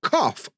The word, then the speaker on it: cough: okay so it's O but cough so it's F like and rof now it's